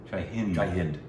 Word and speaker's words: Jai Hind: Jai Jai Hind. Is it Hind or Hind? Hind. I believe the D is soft. Jai Hind.